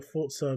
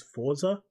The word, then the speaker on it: Forza: I always thought it was Forza, but it's Forza. It's got a T that isn't put there in front of between the R and the Z.